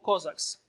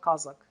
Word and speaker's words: Cossack: By the way, you see that in Russian language, we are pronouncing Kazakh. Yes, in Ukrainian language, we are pronouncing Kozak. And namely, this pronunciation came to English language. Cossack, not Kazakh.